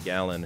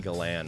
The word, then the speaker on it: Galan: outfielders and and then Augie gallan who or is it Augie Galan I think it's Augie Galan is how you're actually supposed to pronounce it but anyway have